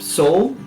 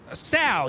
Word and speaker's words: Sal: that say the name soul is that the full name no no no Sal you're pronounced it wrong he has a bit